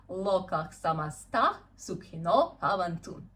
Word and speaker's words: Lokah samasta sukhino bhavantu: And let's pronounce this mantra together. It sounds as Lokah samasta sukhino bhavantu. Yeah, Lokah samasta sukhino bhavantu.